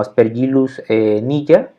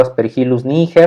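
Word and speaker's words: Aspergillus niger: ojito que se llama lo podemos pronunciar como spirit loose niña este sería la pronunciación correcta aunque la verdad a mí luego a veces éste se me olvida y le digo as perejiles níger así como viene escrito en un poco pero les digo bueno al final de cuentas no está no es incorrecto del torno pero siguiendo estas reglas de fonética latina sería algo así como espera y los niñ a la siguiente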